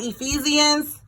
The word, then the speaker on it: Ephesians: All right, Ephesians.